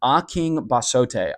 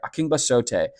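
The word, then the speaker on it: Akingbesote: is Tommy A, but the pronunciation of his name is actually Aking Basote. Aking Basote is how you pronounce his name.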